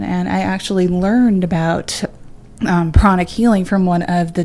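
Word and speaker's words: pranic: know what's a prana killer oh it's actually pronounced chronic chronic okay like chronic but p-r-a-n-i-c it's called chronic healing and actually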